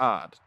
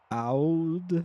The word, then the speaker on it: AOD: We are odd, the antithesis of darkness. Wouldn't That's our that guild be- leader right wouldn't there. that be AOD? No, it's odd. AOD. Like, No, it's odd. Like a odd.